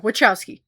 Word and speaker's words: Wachowski: So we did The Matrix from 1999 directed by the Wowski sisters Wakowski. Wowski, right? Wowki. Say the ch. I said wowski. Yeah, there's a T in it. Yeah. Wowski.